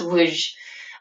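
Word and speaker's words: Lwów: He worked in the sewers in it's pronounced Luj, in the Ukraine.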